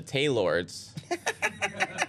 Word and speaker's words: Taylords: I call them the Taylords. And NBC let me say Taylords. Nice. Because they don't get that it rhymes with Gaylords.